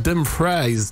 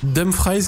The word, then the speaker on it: Dumfries: On dit Dumfries, car c'est un néerlandais, donc prononciation Dumfries. On dit Dumfries et pas Dumfries.